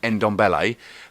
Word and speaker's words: Ndombele: How do you pronounce it? Ndombele.